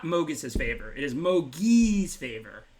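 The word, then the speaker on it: Mogis: under one because it's obviously actually pronounced Mogus's favor, but I call it Mogi's favor.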